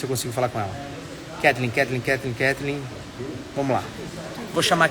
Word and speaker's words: Kathleen: Como é que eu pronuncio o seu nome? Kathleen? Isso, o correto seria isso mesmo.